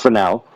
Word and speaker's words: Fresnel: This effect was first theorized by Fresnel, pronounced Fresnel, to explain the null result